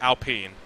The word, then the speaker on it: Alpine: We have to say it Alpine. You can't say it the regular way.